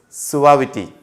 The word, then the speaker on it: suavity: The pronunciation is suavity, deceitfulness, right.